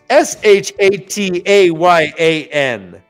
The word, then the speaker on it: shatayan: we have a card for it, but Cliff, pronounce this. It's Shataayan. Oh, yeah. I was wondering about that. I didn't even know what that was. They just throw these words at you. Shatayan.